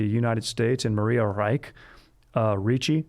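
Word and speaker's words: Reiche: states and maria reich ricci actually like nicole richie that's how it's spelled a german mathematician and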